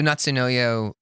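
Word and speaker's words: 夏の夜: to know yo or I think you're supposed to pronounce it Knutson no you idiot that's what Google told me is this summer announced yeah another summer night right okay so Natsu no yo in Japanese means summer night okay yeah this is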